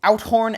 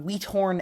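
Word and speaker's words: Uithoorn: for those awful pronunciations it's out horn and sa not weat horn and Zed now the history of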